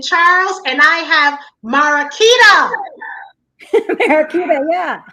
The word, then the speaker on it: Mariquita: Mariquita, yeah.